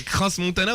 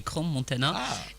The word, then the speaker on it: Crans-Montana: un débat qu'on a eu, Fatia, concernant la prononciation du nom de ce forum. Est-ce que c'est Crans-Montana ou Crans-Montana? On en a parlé avec le président du forum. En fait, en français, on dit Crans-Montana et chez les anglophones, Crans-Montana.